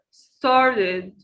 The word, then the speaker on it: started: Start, started, started, started. Now, let's focus on this verb, started, started. Notice we have two syllables. The first, star, and the second, did. We add an extra syllable, started.